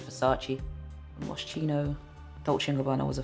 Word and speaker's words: Versace: properly at the time i should call it farsees but it's obviously versace chino dolce gabbana was